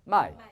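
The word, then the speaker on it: 卖: 팔매자 중국 발음 사성으로 바뀌어 해봐. 마이.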